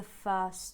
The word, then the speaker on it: first: push them forward the first time the first time On the Border first time um are linked and the first T in first just falls out there's no tea so you just have